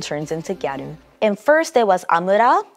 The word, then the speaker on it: gyaru: more often the word gatu itself it comes from the English word girl um but you know Japanese pronunciation turns into gatu and first it was